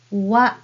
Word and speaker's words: は: The first letter ha can be pronounced as wa when it is used as a particle in a sentence.